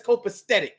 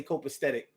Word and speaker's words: copacetic: yeah yeah that's that's copacetic a lot of people say copesthetic but when you go to look up the word it's spelled c-o-p-a-s-e-t-i-c it's copacetic but we'd be like